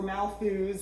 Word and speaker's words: Malthus: mentioned in chapter two so his name is thomas malthus or malfuze however you hear it pronounced i've always pronounced it malthus he's a very famous